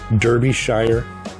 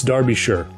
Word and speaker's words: Derbyshire: I said Derbyshire as that's how it's spelled. Silly me, pronouncing words how they're spelled. It's Derbyshire. Or sure.